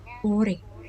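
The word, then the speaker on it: 올해: Oke, tulisannya olhe, tapi dibacanya ure. Ore. Hanya tipis aja, ure.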